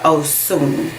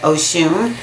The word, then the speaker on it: Osun: So Irasun has to do with the Orisha Osun. O-S-U-N. A lot of times we say Oshun, but that is spelled differently. The S is a little bit different in the word Oshun.